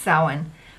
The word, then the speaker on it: Samhain: to us is called Samhain what it's called Sawin but it's pronounced it's pronounced soin but it's spelled Samhain so this is the